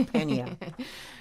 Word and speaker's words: Penha: Yeah, Penha duty free. Not Peña. Well, Peña is a Spanish way of pronouncing it, but Penha is more English way.